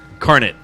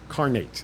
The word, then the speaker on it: incarnate: of the beast incarnate carnet you never did carnet no there's an a in there carnate i'm from jersey man